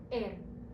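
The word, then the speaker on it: Р: And next we have air. Air. Repeat after me. Air. This is like the English letter R. Now, although it looks like a P, remember it's pronounced air.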